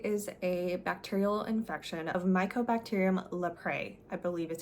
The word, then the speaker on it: Mycobacterium leprae: Leprosy is a bacterial infection of Mycobacterium leprae, I believe is how you pronounce it.